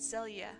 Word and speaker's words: Zelia: Her name is pronounced Zelia. Nice.